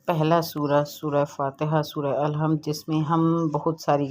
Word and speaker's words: الحمد: بعد الحمد پڑھتے ہیں۔ دیکھیں لام پر جزم ہے، الحمد للہ رب العالمین، جبکہ ایسے نہیں پڑھنا،